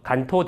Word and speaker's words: 関東: 일본 동부 지역을 한자로는 관동(関東), 일본어 발음으로는 간토(Kanto)라고 해서 간토 대지진 이라고도 합니다.